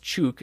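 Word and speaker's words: Ćuk: you can oh yeah it's pronounced chook and I'm looking up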